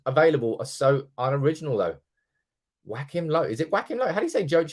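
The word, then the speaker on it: Joachim: are so unoriginal though Whack Him low is It Whack Him low how do you say joim low I say whacking just because whacking Phoenix whacking or low just call him low everybody is talking about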